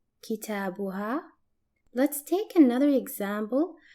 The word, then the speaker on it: كتابها: For example, her book is pronounced as kitabuha, kitabuha.